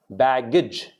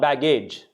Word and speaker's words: baggage: Baggage. Not baggage. Baggage.